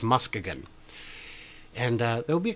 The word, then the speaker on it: Muskegon: I'm going to Michigan I'm going to Muskegon and I know you're saying that's not how it's pronounced but apparently according to the city council for their annual Meetup in June each year it is at how it's pronounced it's official it's still spelled the same but it's Muskegon and there will be